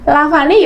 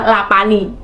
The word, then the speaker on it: Lavani: Kalau ada orang Sunda pasti dibilangnya Lapani. Apa Lapani? bukan begitu. Memang klub ini untuk mengenang Bu Ani Yudhoyono, makanya dinamai Lavani yang diubah menjadi Lavani. Kan pelafalannya beda, Lavani dan Lapani.